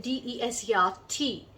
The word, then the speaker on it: dessert: In desert, that is D-E-S-E-R-T, it is desert. The stress is on the first half of the word. And in D-E-S-S-E-R-T, it is desert. The stress is on the second half of the word.